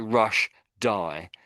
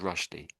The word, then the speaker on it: Rushdie: It looks like Rash D, but we don't say it that way. It's just pronounced Rashi.